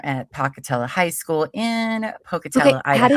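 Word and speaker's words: Pocatello: was a junior at Pocketella High School in Pocutella, Iowa. How did you just say that? I said Pocutello. Is that not right? Pocutella. It's Pocutella.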